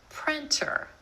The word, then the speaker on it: printer: Printer. Instead of that true T, printer, you'll hear a lot of native speakers say printer.